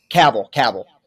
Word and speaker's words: Cavill: Okay, I believe that's Nick Cage and Henry Cavill, I think. Yes. You want to go with that, Joey? You feel good about that? Yes. All right. Yeah, so Nick Cage and Henry Cavill. Cavill.